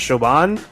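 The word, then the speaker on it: Siobhan: when you see uh I think her name's pronounced shoban uh she's the other assistant that was challenging her she's pretty bad showan sounds like yogurt actually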